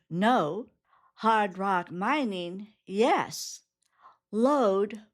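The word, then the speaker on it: lode: Load, which rhymes with road, is gold or hard rock that is found in bedrock or in a mineral vein.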